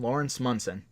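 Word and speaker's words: Lawrence Monoson: Laurence Munson that's how you say his name Laurence Munson who plays Teddy well what if the character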